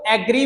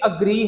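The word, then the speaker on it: agree: मैं बच्चों से पूछता हूं तो वो इसको एग्री बोल देते हैं। ये एग्री नहीं है, ये अग्री है, अग्री डिसअग्री।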